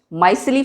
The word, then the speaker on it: micelle: सो associated colloids या माइसिली, ठीक है, इन्हें हम माइसिली, कई बार इसको हम जो प्रोनाउंस करते हैं मिशेल भी कई लोग करते हैं, बट माइसिली फॉर्मेशन या माइसिली, इसमें क्या